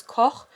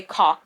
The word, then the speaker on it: Koch: to pronounce Koch properly, but I just assume that everybody who reads this book will say Cock.